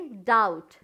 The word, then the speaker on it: doubt: उसी तरह से डाउट, DOUBT, डाउट, बी क्या है, साइलेंट है।